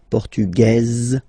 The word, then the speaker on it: portugaise: Masculine, portugais, you don't pronounce the S. Feminine form, portugaise, you pronounce this z sound, okay?